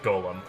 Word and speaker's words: Golem: He asked to be referred to by the last bit, which is of course Golem. Much to his surprise, this ends up being pronounced like Golem. Anyway.